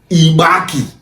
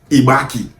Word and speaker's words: Igbanke: That name Ibank is originally pronounced as Ibaki. Yes, Ibank and A was joined together and that is Ibaki.